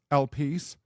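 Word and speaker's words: Elpis: that mythical figure is elpus sometimes pronounced elpie the Greek Spirit of Hope now before we dive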